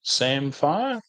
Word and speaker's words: samphire: earth tickle all the sire bushes around here that's spelled s m pH i r e samire native Bush to the area and of course